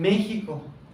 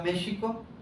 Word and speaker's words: México: lo escribían con J, pero tenía ese sonido sh. Por eso cuando llegan acá y dicen, escuchan que México, se pronunciaba México, los españoles ah, lo escriben con X, otros lo escriben con